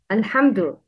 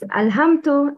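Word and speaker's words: الْحَمْدُ: Uttering dal same as ta should be avoided. It's dal, not ta. Alhamdu. Don't pronounce dal like ta. Please repeat. Alhamdu. The wrong is alhamtu, alhamtu, to no, that's wrong.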